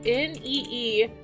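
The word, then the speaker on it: NeeDoh: They're called Needo. Here, I'll type it out in chat for you guys. It's spelled Needow, like this, Needo.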